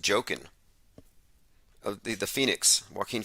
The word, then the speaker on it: Joaquin: tech inc says that joaquin is pronounced joking of the the phoenix